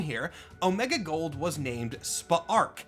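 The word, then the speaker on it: Spa'rk: Omega Gold was named Spaarchc. I'm kind of taking a random shot at that pronunciation, but it is spelled S P Apostrophe A R K. So, I think Spa Arc is right.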